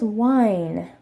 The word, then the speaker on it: wine: one is wine and in Korean is pronounced like wah wah ting why in the note here is that in English we have wine it is one syllable but that's because we have a diphthong the difference on his eye and then this diphthong does not exist in Korean so they have to say in two separate sounds so the discipline